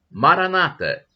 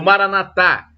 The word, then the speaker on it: Maranata: do aramaico vamos clamar a Maranata como dizem os protestantes com a tônica na penúltima sílaba ou Maranatha como dizem os católicos com a tônica na última sílaba o significado é o